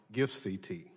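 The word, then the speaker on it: GIFCT: global internet forum to counterterrorism or pronounced gifts et is troubling to say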